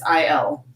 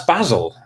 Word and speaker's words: basil: way that we would pronounce the name of a hotel owner in Torquay in Fawlty Towers, if anyone's ever seen that. And that's Basil, for sure.